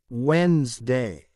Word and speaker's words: Wednesday: Don't pronounce D in those words in English. Wednesday, sandwich, handsome, edge, bridge, handkerchief, badge, hedge, fridge, lodge.